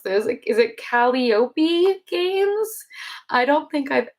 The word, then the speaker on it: Calliope: So long I, accent on the I, Calliope.